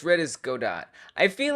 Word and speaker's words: Godot: You say it like Godot, got it, got it, Joe Dot, Joe Dot. Oh, no one agrees how it is read. I say Godot. It sounds fancy. Godot. It sounds very fancy, but I think